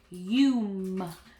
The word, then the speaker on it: volume: So that word is volume. Long U because of the VCE pattern. This is a short O because it's a closed syllable, right? Volume. Clap it out.